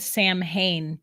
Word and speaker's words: Samhain: I got to get it right because Samhain is it's spelled Sam Hain, but that's not how you say it. It's Samhain, okay.